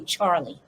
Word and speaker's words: Charli: i should i should say the way it's pronounced c-h-a-r-l-i which is really charlie okay needless to say she's named after charles